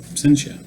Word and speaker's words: Absentia: Absentia.